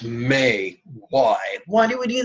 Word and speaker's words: me: But we pronounce this syllable may just like the month, or just like the request, Mother may I.